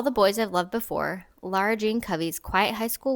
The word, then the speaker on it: Lara: Well, and it sounds like sometimes they're saying Laura. Just like Laura Laura Jean. Jean instead of Lara Jean.